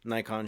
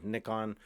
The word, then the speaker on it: Nikon: Sony Shooters Canon Shooters Nikon shooters or nickon nonon however you want to pronounce it I've heard both uh you know Fuji